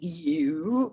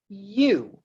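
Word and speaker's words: EWWW: million uh installs and it's spelled eww image optimizer now you can say you but i talked to the guy who wrote it and he says you so i go with you and the thing about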